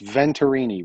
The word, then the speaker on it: Venturini: mentions it but it's venturini v-e-n-t-u-r-i-n-i i always say it's spelled the way that it sounds vinterini okay i think yeah